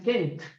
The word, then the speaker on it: can't: Pero si tú quieres negar es Kent. Y termina en una T al final.